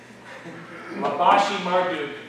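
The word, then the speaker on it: Labashi-Marduk: I would rather pronounce this Labashi Marduk, or Laboros Sorkod is his name.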